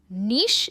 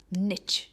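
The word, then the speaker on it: niche: Next है, इसकी भी दो प्रोनाउंसिएशंस है, नीश आप कह सकते हो या निच। दोनों भी प्रोनाउंसिएशंस परफेक्ट है।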